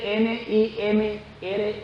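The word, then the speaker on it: Nimrod: las películas de Hollywood que se llamaba nim se escribe n i m r o d nimr era Nieto de Noé nimr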